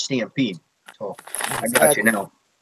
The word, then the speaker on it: Stamp3de: He pronounced my name Stamp303. 03. That's what I was saying. I was saying Stamp3de3. That's what I was saying. Because the way you spell it. The way it looks, it's completely understandable. You know, you change the E's to a 3, so it's Stampede.